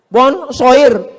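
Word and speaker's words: bonsoir: Bacanya bonjou. Bon sair, bonsa.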